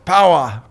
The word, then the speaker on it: Power: It's Power." Yeah. And it's pronounced P-O-W-A for us non-Aussie. Power.